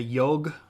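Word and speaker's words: yogh: Here's your G, which is more like a yog, and you can see here that it's not pronounced the same way that we would pronounce a G all the time. It's got that y or the J sound, the j's.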